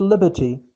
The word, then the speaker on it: liberty: The Statue of Liberty. Of F, it is pronounced V. The Statue of Liberty. الحرية. Notice here, R here, it is not pronounced.